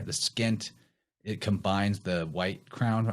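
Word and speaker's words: pschent: is depicted with it it's called the skint which is spelled p-s-c-h-e-n-t so it has a silent p in there the skint it combines the white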